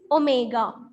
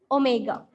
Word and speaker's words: omega: It is not W, it is omega. We are pronounced as omega.